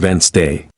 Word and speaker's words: Wednesday: For example, you might see the word Wednesday and think it's pronounced exactly as it's spelled, but listening teaches you it's actually pronounced Wednesday. This helps you speak more clearly and confidently.